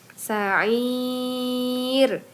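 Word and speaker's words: سعير: Kemudian cara baca ro-nya tarqi atau tipis. Jadi bacanya sa'ir gitu ya.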